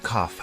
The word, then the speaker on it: cough: you have a cough the word cough has an unusual pronunciation instead of a g sound we have an F sound here do you have a